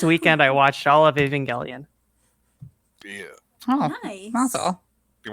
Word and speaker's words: Evangelion: pronounced Evangelion.